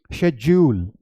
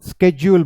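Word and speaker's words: schedule: British English में इसे बोला जाता है शेड्यूल। शेड्यूल, बहुत लोग बोल देते हैं शेड्यूल, ये शेड्यूल नहीं है, डा नहीं है, दिस इज शेड्यूल। इसलिए मैंने आपको पहला वो एग्जाम्पल दिखाया, that's not module, that is module. उसी तरीके से ये शेड्यूल नहीं है, ये शेड्यूल है। ओके, या तो आप शेड्यूल बोलेंगे या तो आप स्केड्यूल बोलेंगे। ओके, स्केड्यूल या शेड्यूल।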